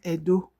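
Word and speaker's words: Ẹdo: Always remember when you want to pronounce edo. Edo language. Edo, not Edo. Edo. Edo language. The pronunciation changes because of di at the bottom of the e.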